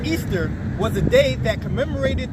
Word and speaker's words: Ishtar: Ishtar, which is pronounced Easter, was a day that commemorated the resurrection of one of their gods that they called Tammuz, okay?